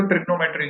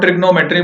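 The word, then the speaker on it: trigonometry: टिग्नोमेट्री तो जानते हो, क्या स्पेलिंग बता सकते हो ट्रिग्नोमेट्री की? ये गलती अमूमन सब कर देते हैं। इट is called ट्रिग्नोमेट्री बट इट इज ट्रिगोनोमेट्री। ठीक है, इस ओ को मिस मत करना, ट्रिगोनोमेट्री।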